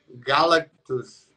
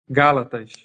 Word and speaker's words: Gálatas: E me corrija se eu estiver errado, Galactus, como que pronuncia? O que? O livro bíblico? Gálatas. Gálatas Gálatas.